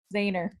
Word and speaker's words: Zajner: How do you say it? Zahner. Zahner. Oh, thank you. I've Zahner never heard one of the two. Zajner. That's how I always say it.